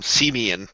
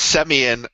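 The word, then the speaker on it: Semien: pronunciation thing and then you called him seian uh it's semian and we're not even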